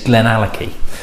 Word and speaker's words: Glenallachie: And it's Glenallachie.